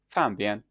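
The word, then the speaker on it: 方便: This misinterpretation stems from the fact that the Mandarin word for convenient, pronounced "fanbian," encompasses a broader range of meanings, including both convenience and simplicity, and something that is nearby.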